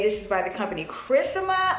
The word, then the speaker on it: Kryssma: is by the company chrissama i believe i want to say it correctly but i'm going to show you guys yeah charisma so it's it sounds like my name honestly but yeah